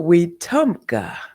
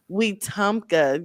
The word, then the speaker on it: Wetumpka: Did I Wetumpka. pronounce that right? No, Wetumpka. Wetumpka. Y'all, I am just so thrilled.